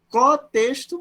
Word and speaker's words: cotexto: assume o nome de cotexto. Não, eu não me enganei, não estou pronunciando errado, não engoli esse N aí, não é nada disso. Tá? É cotexto mesmo.